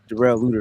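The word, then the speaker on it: Darrell Luter: lter y'all bugging but derl lutter excuse me that's his name his name derl you better say it right but yeah dwell might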